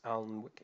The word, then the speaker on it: Alnwick: So location, so I've got Alnwick there, even though it looks like it's Alnwick, it's pronounced Alnwick.